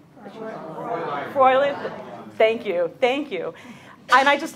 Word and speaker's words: Fräulein: As you can see, the picture of the lady here, I'm going to mispronounce this, Frau Lynn, is that right? Fräulein.